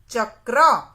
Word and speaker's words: चक्र: में हमें र को लगाना है, तो उसका उच्चारण होगा चक्र।